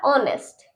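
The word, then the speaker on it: honest: Okay, नेक्स्ट हमारा ऑनेस्ट। ऑनेस्ट, इसमें भी ओ से पहले एच है ना, तो हम इसे साइलेंट रखेंगे, ऑनेस्ट पढ़ेंगे, ऑनेस्ट। ओके, इसमें हमारा इको।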